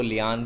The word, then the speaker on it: lien: लीन को लियान भी प्रोनाउंस करते हैं, since it's a French word. Spelling है इसकी LIEN.